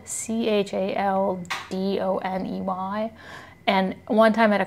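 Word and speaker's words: chalcedony: I was like, it's Chaldane or whatever. And some lady was like, it's pronounced Caldone.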